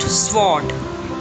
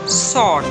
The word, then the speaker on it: sword: The letter W is silent. It's not sword, it's sword.